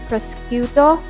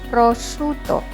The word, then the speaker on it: prosciutto: typically served in very thin slices don't say prosciutto or prosciutto it should be pronounced as prosciutto with an emphasis on the double tea grudate